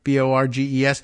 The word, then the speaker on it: Borges: Householder and former state GOP chairman Matt Borges, has got his pronunciation right, Borges, are serving 20 years and 5 years, respectively, in federal prison for their roles.